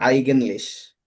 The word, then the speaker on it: eigentlich: Es ist aussprachen Englisch or Eigentlich.